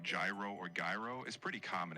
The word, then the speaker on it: gyro: So, to be clear, is it gyro or iro without the Y? It's gyro with a softer sound at the start. Think of it like the beginning of the word year.